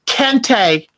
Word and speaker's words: kente: It's kente cloth. And it's spelled K-E-N-T-E. Kente cloth. From Ghana, West Africa.